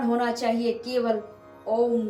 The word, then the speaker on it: ओम: उच्चारण होना चाहिए केवल ओम का तो ओम कैसे उच्चारण करना है आपको पहले आ बोलना है आ ओ मा ओम शब्द में आपको तीन अक्षर प्राप्त होते हैं आ उ और मा तो आपको सबसे पहले